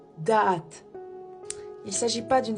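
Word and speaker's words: דעת: Nous avons ensuite le mot connaissance, qui se prononce da'at.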